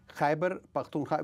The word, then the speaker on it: Khyber Pakhtunkhwa: Yeah, Sindh, Punjab, Balochistan, and Khyber Pakhtunkhwa. Huh? How do you say that? Khyber Pakhtunkhwa.